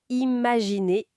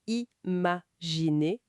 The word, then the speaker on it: imaginer: Ce n'est pas le son nasal un, comme dans important. Ah non. Non, ça se prononce en deux temps. I, puis N. Comme dans imaginer, imaginer, ou inutile, inutile. Ça n'a rien à voir avec le un de impossible.